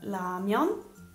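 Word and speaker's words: 라면: Quindi solitamente all'inizio e alla fine di una parola sono pronunciate come L. Quindi per esempio abbiamo Lamyon, Lamyon, i ramen, oppure Nal, Nal, il giorno.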